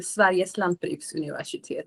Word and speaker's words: Sveriges lantbruksuniversitet: Very good Swedish pronunciation, I assume. Yes, Sveriges lantbruksuniversitet. Yes. Yeah, Swedish. she said it better. That's very fancy. That's the Swedish way.